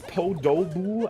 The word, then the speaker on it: Podoboo: Yeah, apparently, according to chat, it's Podoboo. I was thinking it's Podabu, like with an A.